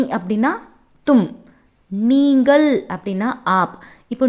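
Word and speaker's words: आप: நீங்கள் அப்படின்னா ஆப். இப்போ நீ அப்படின்னா கேஷுவலாக சொல்லுவோம் தும். நீங்கள் அப்படின்னு ரெஸ்பெக்டாக நம்ம ஆப் அப்படின்னு ப்ரொனவுன்ஸ் பண்ணணும்.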